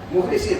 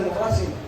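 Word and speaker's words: مُخلَصين: Dia ni biasanya mukhlisin, bacanya mukhlisin, padahal itu tulisan mukhlasin.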